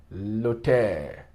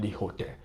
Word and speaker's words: hôtel: Où est l'hôtel? See, l'hôtel, vowel preceded by a consonant. You see, the H is silent. L'hôtel, not the hotel.